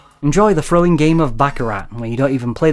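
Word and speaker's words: Baccarat: Neo Bakarat was the final game in the Pocket Casino series.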